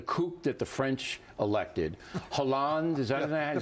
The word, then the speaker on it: Hollande: In the Talking Points memo, I said that the kook that the French elected, Hollande, is that how you say his name?